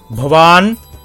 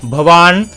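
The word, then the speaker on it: भवान्: as a masculine gender the Sanskrit sentence is pronounced as banam it is called as banam similarly for a feminine gender it is pronounced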